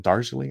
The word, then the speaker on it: Darjeeling: Is it Darjeeling? I don't know how to pronounce it. Darjeeling, yeah.